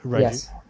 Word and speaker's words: Raju: So, how do you um Raju, is that how I pronounce your name? Sorry. Yeah, that's the correct pronunciation. Raju.